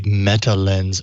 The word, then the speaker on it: Metalenz: Coupled with, sorry, I'm trying to pull it up, a Metalenz optical meta surface. Oh boy, that's a phone. Lens is spelled with a Z, by the way. Everyone. Yes. So Jason should be saying lens.